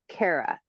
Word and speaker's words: Cara: Say my name is Cara, pronounced Cara.